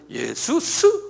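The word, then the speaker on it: Ἰησοῦς: 본래는 예수스 그러 한번 발음해 보세요. 예수스 이게 이제 그리스말이거든요.이 그리스말로 히란 말로 예수스란 말은 뭐냐면 자기 백성을 저들의 죄에서 구원할 자 이렇게 길어요 내용이.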